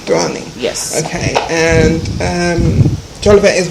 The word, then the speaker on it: Douoning: Douoning. Douoning.